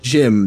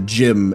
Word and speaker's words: GM: If you don't know, one of the like original mobile suits in Gundam is called the gym and it's spelled GM.